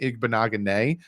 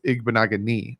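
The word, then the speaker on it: Igbinoghene: says to me like i think i was saying igbo naganei at first and then someone was like no it's igbo nagani and i was like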